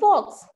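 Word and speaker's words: folks: हो रहे थे द फॉक्स, यहाँ पर फॉक्स यानी लोग, एल साइलेंट है बच्चों, गेट टेकिंग मी फॉर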